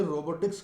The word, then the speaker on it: robot: कुछ मित्र समझते हैं कि इसमें टी साइलेंट है, इसको रोबोट नहीं कहना चाहिए, रोबो कहना चाहिए। तो हम ये बात स्पष्ट कर देना चाहते हैं कि इसमें कोई भी लेटर साइलेंट नहीं है, कोई भी लेटर साइलेंट नहीं है। तो इसको जब हम इंडिपेंडेंटली बोलेंगे तो रोबोट ही कहेंगे, और अगर फ्रेज में